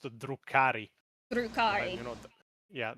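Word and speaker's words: Drukhari: He talks about the Durkai for about No, that that that that actually that's pronounced Druari. Drukari.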